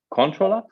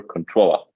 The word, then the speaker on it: ControlUp: So ControlUp is like very important that it's one word. Dutch people say ControlUp a lot for some reason. Stress on the first syllable. I don't know. We prefer ControlUp.